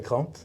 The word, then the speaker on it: Crambes: Une petite surprise aujourd'hui puisqu'on est au siège de KTM France et on est avec Cramp. Je prononce bien?